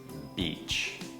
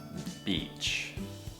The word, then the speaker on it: beach: biệt đấy bitch bitch Các bạn có thấy rằng miệng của mình lỏm và mình nói một cách thờ giãn không bitch bây giờ đổi Nguyên â beach beach Các bạn thấy chưa miệng của mình căng hơn beach that beach is